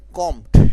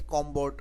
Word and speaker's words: combed: অনেকে কমবোর্ড বা বলতে পারো, বাট সিম্পলি কম্পড উচ্চারণ করলে ভালো হয়।